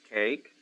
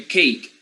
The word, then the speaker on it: cake: pronounce the first one cake great okay cake there is a silent e and this silent e immediately gives you the the name of the of the letter in the in the alphabet so you will say